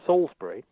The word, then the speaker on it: Salisbury: well first of all let me just pronounce you're correct your pronunciation is Salisbury sauce is a nice thing the name of the